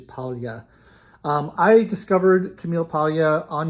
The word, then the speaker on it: Paglia: I'm trying to pronounce her name the proper Italian way with the palatalized L rather than Paglia. I believe it is Paglia.